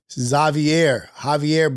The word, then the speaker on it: Xavier: My name is Xavier, but in Spanish, I pronounce it Javier, but with the X makes the S sound.